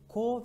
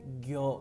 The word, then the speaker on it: 行: Çince okunuşu ko ve gyo olarak karşımıza çıkıyor.